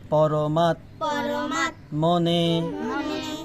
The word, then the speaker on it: পরমাত্মনে: পরমাত মনে, এটা হলো ত ম। তার প্রথমে তর উচ্চারণ হবে ম আকার মার সাথে মাত, এবং এই নিচের ম সাথে হবে দন্ত নইকার মনে।